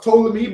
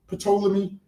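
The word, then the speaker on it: Ptolemy: See, so it's it's pronounced tolamy, but obviously a lot of us say petroleum.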